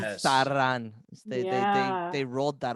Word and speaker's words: Sauron: way of pronouncing things, sort of over pronouncing them a little bit. Like when they said Yes. Sauron, Yeah.